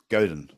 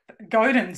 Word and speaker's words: Godin: Godin, sorry. God, really? Well, so you got me to introduce the book and I got his name wrong. Oh, it could be Godin, but I think it's Godin. Godin, okay, Godin. Yeah.